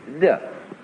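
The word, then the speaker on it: 德: Virtue in Chinese is de. We Romanize it as T-E-H, de.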